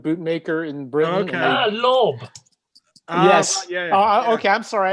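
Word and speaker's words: Lobb: John Loeb, Right. custom shoe and boot maker in Britain. Okay. Lob.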